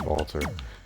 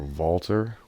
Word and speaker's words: WALTER: in Walter I stayed Walter but a lot of people have corrected me it's not a V but that's how Germans pronounce the W because they don't have